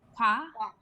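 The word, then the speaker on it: 화: This one, it's the H, right? Hyung is the H. Can you repeat after me? Hwa.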